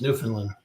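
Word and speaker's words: Newfoundland: Finland and labador it's New Finland that's it you have to say it right it's New Finland it's kind of like saying Louisville it's Louis you know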